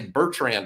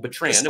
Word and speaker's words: Betrand: his last name only his last name only has one r in it not two I've been I say Bertrand a lot I don't know where I got that other R from but his name is